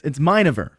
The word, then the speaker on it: Minever: All right, so it's Minever is how they want to be pronounced.